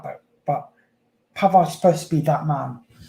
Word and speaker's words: Pavard: First of all, it's Kefrin Thuram, and it's Manu Kone. That's how you say it. And Benjamin Pavard. That's how you say their names.